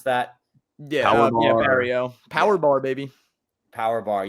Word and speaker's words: Barriault: I'm terrible at pronouncing It's names. French. Barrio.